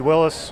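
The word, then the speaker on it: Willys: true Jeep afficionado cuz he said Willis the proper way I'm just throwing it out there no now why is it Willis because that's how the man pronounce his name really why is your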